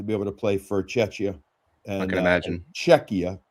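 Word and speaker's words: Czechia: Um OB he was just completely disappointed not to be able to play for Cetchia and I can imagine Czecha. Beg your pardon. I have to say it right. Czecha.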